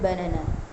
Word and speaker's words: banana: In the word banana, the first and last syllables are unstressed. Banana.